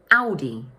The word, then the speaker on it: Audi: The first syllable is pronounced "Ow", and the second one is pronounced "Di", with the stress falling on the first syllable. So in English, we say: Au-di Audi Now let's move